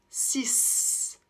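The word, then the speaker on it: six: compter par exemple là on va prononcer le X comme un S 6 ce avec le son ce ok exemple ouvrez votre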